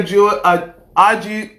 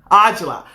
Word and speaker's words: Aujla: I am blessed beyond measure and Sonny are Georgie Oh Lord I just pronounced your name wrong Sonny pronounce your last name for me Sonny Angela so Sonny Angela is a dear friend and